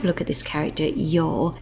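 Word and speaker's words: 曜: off with this character over here which is pronounced y it's part of a combination y be which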